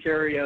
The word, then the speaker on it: Theriot: good time over here gp cheerio and we if you look at my name it's spelled like the riot and we have a